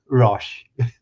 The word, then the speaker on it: Rosch: is that totally wrong rash rash rash so basically kind of almost dropped the C effectively and just rash yeah yeah yeah Rush